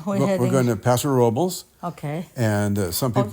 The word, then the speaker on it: Paso Robles: We're going to Paso Robles, Okay.